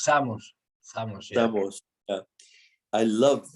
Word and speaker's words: Samos: You're pronouncing it in Portuguese. Or maybe that's the way you pronounce it in Galicia, which In Galicia is it's the same, it's Samos.